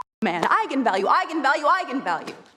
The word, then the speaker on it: eigenvalue: the director, said, yes, that is how you pronounce it. So I went out there and said, that's right, eigenvalue. And then apparently the internet went nuts when it came out, because apparently it's pronounced eigenvalue.